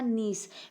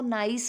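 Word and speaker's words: niece: का क्या हो जाएगा, नीस। बेटा इसकी प्रोनाउंसिएशन में ध्यान रखना, कई बच्चे इसको नाइस बोलते हैं, नाइस नहीं होगा। अगर आप नाइस बोलते तो उसकी स्पेलिंग NICE होगा।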